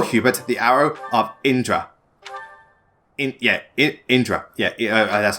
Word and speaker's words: Indra: Indra. Yeah, that's how I pronounce it.